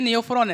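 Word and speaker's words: Neophron: आएगा इसमें ये देखो ये न्यू फ्रॉन है नेफ्रॉन नहीं है न्यू फ्रॉन तो वल्चर होता है ना मैंने स्पेलिंग देख लो क्या है एन ई ओ पी एच आर ओ एन और वो नेफ्रॉन क्या होता है एन ई पी एच आर ओ ए नेफ्रॉन एंड नेफ्रॉन न्यू फ्रॉन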